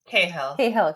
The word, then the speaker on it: Cahill: I always say her last name wrong. Somebody help me here. Cahill, yes.